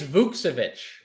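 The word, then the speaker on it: Vučević: It's Vucevic. Yeah. I was listening to the Wizards play-by-play say it.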